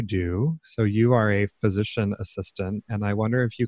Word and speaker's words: physician assistant: way it's pronounced so a lot of people think physician's assistant so apostrophe s that is actually not appropriate it's physician assistant we don't belong to